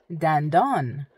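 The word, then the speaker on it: دندان: You don't want to put stresses in between because it would sound very weird.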